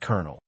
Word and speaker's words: colonel: Another example is kernel spelled like colon L but pronounced colonel or subtle where the B is completely silent.